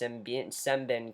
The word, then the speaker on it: Sembene: deceased family and S sben comes in I've been I've been pronouncing his name wrong it's s Ben I've been pronouncing his